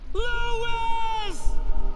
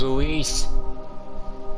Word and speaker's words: Luis: Lewis! His name's Luis. Not Lewis.